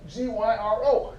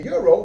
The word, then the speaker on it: gyro: But I've been ordering gyros because it's spelled G-Y-R-O. Didn't realize that it's really pronounced gyro. So all this time I've been saying gyro when really it's called euro.